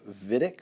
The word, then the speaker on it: Wittig: to be called the vidiq reaction it is spelled wittig but it is a German name therefore it's pronounced davidic I'm going to